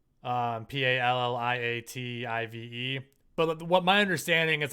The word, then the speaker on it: palliative: That's how you pronounce it. Palliative.